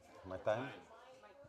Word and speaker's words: Martijn: Martijn. But Martijn is pretty good. So say it again. Martijn. Martijn. Martijn. Hein. Time, like it rhymes with time, Yeah. but with an N.